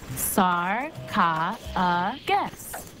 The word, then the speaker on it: sarcophagus: find out how to pronounce that word it's pronounced sorry kha guess now let's find out what sarcophagus means a sarcophagus is a stone coffin decorated